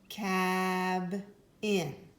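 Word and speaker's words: cabin: with me cab in we heard the break right here this would be syllable one syllable two we're looking at the first vowel because the consonant stayed with the vowel in the first syllable it does not say its name it says ah let's do one more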